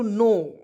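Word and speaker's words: know: कि एन ओ डब्लू नो के एन ओ डब्लू नो कोनो नहीं पढ़ेंगे क्या पढ़ेंगे कोनो नहीं पढ़ेंगे के को साइलेंट रखेंगे दोस्तों और एन ओ डब्लू नाउ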